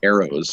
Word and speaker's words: Aero: of what the Sonora Aeros, and I say Aero, it's spelled AERO, like aeroplane and stuff.